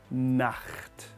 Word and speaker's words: Nacht: Nacht is the more difficult word to pronounce here, I understand this. So we're going to go through this slowly. Gute, gu, like gu, gu, gu, gute, t, and then Nacht. Na, like na, tongue at the roof of the mouth